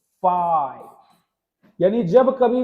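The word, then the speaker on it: phi: इसका प्रोनाउंसिएशन होता है फाई।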